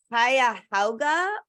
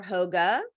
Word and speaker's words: Cuyahoga: about five campuses and it's actually pronounced Cuyahoga or Cuyahoga there's a little controversy about how it's pronounced so Cuyahoga or Cuyahoga